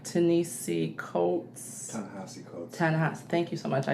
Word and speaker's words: Ta-Nehisi: I don't want to mispronounce his name, like Ta-Nehisi Coates. Ta-Nehisi.